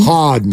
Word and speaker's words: Harden: can't believe you said it wrong James Harden Harden thank you very much I'm under pressure here